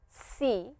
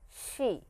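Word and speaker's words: し: is a little different this is an exception here it is not see but it is she similar to this English she pronunciation wise it is similar to sh e in English so please remember that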